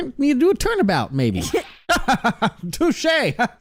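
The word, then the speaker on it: touché: Touche. Touchy. It's pronounced touche.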